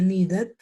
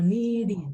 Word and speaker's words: needed: Esas palabritas que terminen en estas dos letras se van a pronunciar con id. Es decir, que estas dos, esta ed se va a pronunciar como una id.